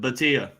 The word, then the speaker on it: Bhatia: I think it's Bhatia, but I think the H is silent. Bhatia.